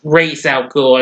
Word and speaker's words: Ra's al Ghul: Well, I mean, it's Ra's al Ghul, as that's pronounced.